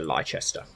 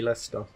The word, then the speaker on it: Leicester: Let's go to Leicester. Which is how a lot of people say, pronounce the name of my city, Leicester.